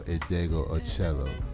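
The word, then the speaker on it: Meshell Ndegeocello: And that is the talented Miss Michelle Indego Ocello.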